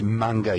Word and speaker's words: manga: other people know the MinGa so I it's pronounced manga you noob okay hey for what it's worth